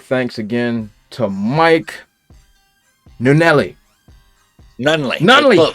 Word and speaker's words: Nunnele: Nunley. Come on, Daniel. I knew it. Very close. Nunley. I said it right the first time.